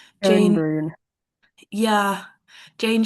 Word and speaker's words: Schoenbrun: And then the last quote is by, I have no idea how to pronounce the last name. Joan Jane, Brune. yeah, Jane Schoenbrun.